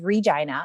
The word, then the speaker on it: Regina: from regina saskatchewan canada yes i said it right it is regina okay and um it's